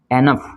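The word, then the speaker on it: enough: और यहाँ पे इसको क्या पढ़ेंगे हम एनफ, इनफ, क्या पढ़ते हैं इसको एनफ, ठीक है ना इनफ, तो यहाँ पे ये फ का साउंड दे रहा है, ठीक है।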